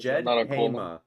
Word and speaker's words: Djedhema: Like Jedi, Djedhema.